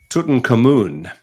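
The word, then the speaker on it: Tutankhamun: which one it was I don't know remember Tuton Kon is the way they pronounce it yeah uh he's still there because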